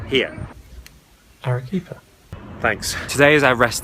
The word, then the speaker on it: Arequipa: Let's insert the right pronunciation here. Arequipa.